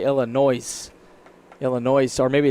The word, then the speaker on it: Illinois: Partner dropped the S in Illinois. Yeah. Yeah. Out here in California, we say Illinois.